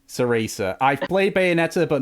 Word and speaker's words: Cereza: I think I pronounced that name like Chrysia. How do you pronounce that, Dom? Actually, if you played Bayonetta, you'll know it's pronounced Cereza. Ceresa.